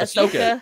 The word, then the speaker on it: Ahsoka: John is doing this is that what is that how you say it do you say it Ashoka yeah correct Oh yay yes in